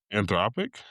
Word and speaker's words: Anthropic: Anthropic?